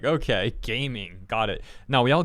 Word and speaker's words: Gaming: caravan was safely escorted by gaming, by Ga Ming.